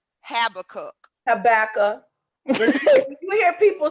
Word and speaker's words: Habakkuk: Habakkuk. You hear people say cast the vision, make it plain. What do you think? What book that's coming from? Cast the vision, make it plain. That's Old Testament. Habakkuk.